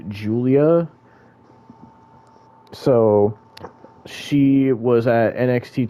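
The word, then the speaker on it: Giulia: to say her name but apparently it's it's pronounced Julia so she was at NXT takeover and you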